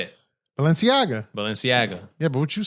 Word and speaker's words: Balenciaga: Balenciaga. Yeah, but what' you say? I said Balenciaga. Nah. I'm still saying it wrong. No, you said it right now. But before you I said Balenciagas.